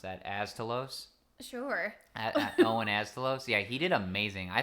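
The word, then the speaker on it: Owen Asztalos: The Owen, how do you pronounce that? Astalos. Sure. Owen Astalos.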